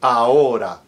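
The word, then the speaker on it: ahora: a word or even in the middle like a a h o r a aora it has no sound whatsoever.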